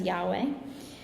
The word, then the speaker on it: Yahweh: transposed into the Latin letters of YHWH, which we often pronounce as Yahweh.